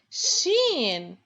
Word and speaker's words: ش: and now we move on to how to pronounce this letter shin sha repeat after me please guys shin represents